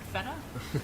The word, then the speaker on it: feta: feta and they're saying no no you're saying feta wrong you got to say more emphasis on the ETA and I'm like okay feta and they're like no